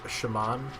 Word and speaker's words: Simon: In Japan, it's like shaman, and one of the goofy ass remixes Konami did for Bloody Tears is Simon. I'm going to assume they probably meant Simon.